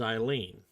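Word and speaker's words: Aileen: the script given and i read it as eileen that's the way it it pronounces out a i l double e n quarry huh what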